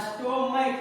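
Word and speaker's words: stomach: जैसे देखिए यहाँ स्टोमैक है, अंत में क्या है? च है, लेकिन इसको पढ़ते क्या है? स्टोमैक। यहाँ लास्ट में क्या हो गया? क। यहाँ CH दिया हुआ है लास्ट में, इसका उच्चारण क्या हो रहा है?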